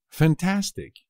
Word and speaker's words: fantástico: p muy fácil también fantástico fantástico también es fácil pero no os olvidéis del acento en la segunda pico me parece fantástico